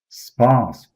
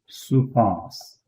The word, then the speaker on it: supas: Spas or supas.